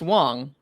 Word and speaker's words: Wang: I actually have a Lulu Wong also it's pronounced Wang it's that way I'd